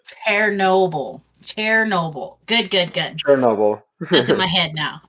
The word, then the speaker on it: Chernobyl: our lives no exactly um but Chernobyl um Chernobyl would be the way to properly pronounce it chobble chobble good good good chair Noble that's in my head now okay chair Noble